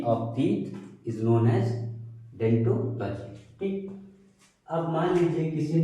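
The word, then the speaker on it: odontology: इसको हम पढ़ते हैं डेंटोलॉजी, लेकिन आगे वो लगा होता है जो कि साइलेंट होता है। लिखा जाता है ओडेंटोलॉजी, लेकिन पढ़ा जाता है सिर्फ और सिर्फ डेंटोलॉजी।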